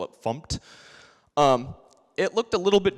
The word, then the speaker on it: fmt: the you know go from dinner us to format the code and there's some semicolons in there